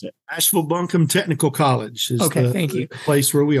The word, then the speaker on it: Asheville-Buncombe Technical College: Tell me the name, because I know I'm going to mispronounce it. Asheville-Buncombe Technical College is the place where we are.